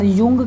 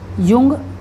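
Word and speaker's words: Jung: दिया है ठीक है इसका spelling J यू एन जी ही लिखा हुआ है तो कंफ्यूज नहीं होना है ठीक युंग यह क्या है इन्होंने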